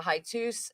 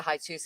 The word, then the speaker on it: hiatus: Apparently, the show went on a little hiatus and it came back. It's not a highus, it's a hiatus, isn't it?